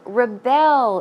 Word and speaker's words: rebel: rebellious stage as well so rebel and rebel verb form once again that is to rebel as I said the stress goes on the second syllable and as an elm